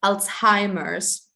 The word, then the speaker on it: Alzheimer's: And in English, it's pronounced Alzheimer's.